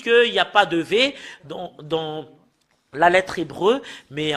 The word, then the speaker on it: ו: Et voilà le Vav. Voilà le Vav. Voilà le Vav. C'est V qu'on le prononce.